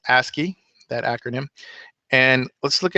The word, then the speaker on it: ASCII: Code for information interchange that's pronounced a ski that acronym and let's